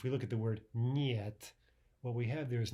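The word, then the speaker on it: нет: But again, one way to practice this is take an English word like canyon or onion. Let's take canyon, for example, and let's just pretend that the un part at the end is not there at all. Can. And so instead of saying can, yun, thinking of it that way, let's kind of attach the Y to the N itself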